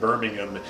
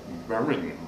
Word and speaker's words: Birmingham: he almost just said birmingham i mean it almost ran all into one extended syllable yeah exactly no ham on the end right but that was